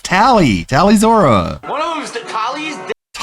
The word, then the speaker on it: Tali: Like, no one told him that her name was pronounced Tally, or Tali. It's Tally. It's always pronounced Tally in the game.